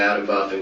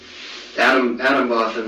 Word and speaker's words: Atomwaffen: dedicated, huge numbers of Adam Waffen guys on there, and you know, I remember Adam Waffen, like I say Waffen because it's like Waffen is in arms.